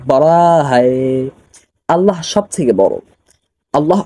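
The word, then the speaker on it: بڑا ہے: একটা কথা মনে রাখবেন, এখানে যে যদি আপনি উচ্চারণের ক্ষেত্রে এভাবে বলেন যে বড়া হায়, তাহলে কিন্তু উচ্চারণটা হলো না, উচ্চারণটা একটু মোটা করে বলতে হবে, এভাবে যে বড়া বড়া হায়, বড়া হায়।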